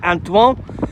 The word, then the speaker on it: Antoine: Number 15, I could only pronounce this in a French way, that's Antoine.